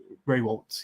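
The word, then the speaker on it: Rehwoldt: How do you pronounce his surname? Is it Raywalt? Ray Waltz, yes.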